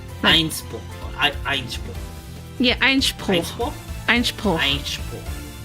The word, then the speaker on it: Einspruch: Einspruch. Einspruch.